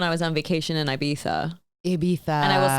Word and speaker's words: Ibiza: And I said Ibiza, and they're like, no, it's Ibiza.